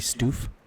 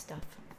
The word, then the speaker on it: Stuf: Wouldn't that be stoof? No, I think it's still pronounced stuff. It's a hard F.